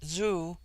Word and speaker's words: Zoo: on the the other hand Z when an initial is with them a sound in which the breath is sucked Inward and thus Zoo pronounced zo which in their language is one letter is the ordinary prefix